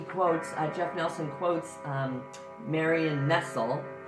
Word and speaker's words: Nestle: Please, so, in the video, and he quotes, Jeff Nelson quotes Marion Nestle. That's how it sounds, not spelled, no, it's spelled like Nestle.